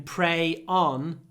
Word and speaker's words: prey: Of course, yes, the pronunciation is the same as молиться, to pray, and to prey on.